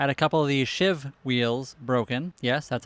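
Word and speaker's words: sheave: I had a couple of these shiv wheels broken. Yes, that's how they're pronounced.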